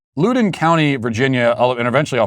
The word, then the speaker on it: Loudoun: Okay, from the Daily Wire, it says Loudoun County, Virginia, and eventually I'll figure out how to actually pronounce Is it Loudoun?